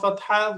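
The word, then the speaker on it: ف: এরপরে ফা, ফায়ের উচ্চারণ কি? ঠোঁট, অর্থাৎ উপরের জায়গা নিচের ঠোঁটের মাঝখানে লাগবে। উপরের দাঁত, দাঁতের আগা নিচের ঠোঁটের মাঝখানে।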